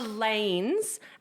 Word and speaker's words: Lainz: But you see, I could be pronouncing it totally wrong and it could be like Lainz Angels of Death. Okay. Loins? How's it spelled? Lainz. Oh, Lainz. I think you had it right the first time.